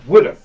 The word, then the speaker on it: WTF: This is Johnny Gunn's WTF, which, is, of course, is pronounced Woodif.